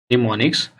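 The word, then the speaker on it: mnemonics: तो the language of symbols और निमोनिक्स, देखिए निमोनिक्स में एम साइलेंट होता है, निमोनिक्स is known as assembly language, is known as assembly language.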